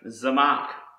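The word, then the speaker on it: צמח: Another word I want to show you is pronounced Zamak, and this means plant, to sprout, growth, to spring up and expand.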